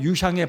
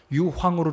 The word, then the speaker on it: 유향: 11절을 보시면 황금과 유향과인데 어떤 분들은 유향의 발음을 잘못해 가지고 유황으로 착각하는 유황이 아닙니다 유형입니다 유황 아니라 유향 자 황금과 유향과 모인데